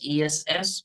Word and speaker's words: S: It should be pronounced like ESS, but not like YESS.